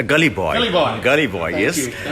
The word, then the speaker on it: Gully Boy: Is it Good Boy? What is it? Good Boy? A Gully Boy.